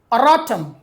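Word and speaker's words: erratum: So the word is arotum.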